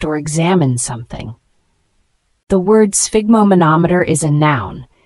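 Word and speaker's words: sphygmomanometer: a device used to measure blood pressure let's pronounce it together spigo monometer an alternative term could be blood pressure monitor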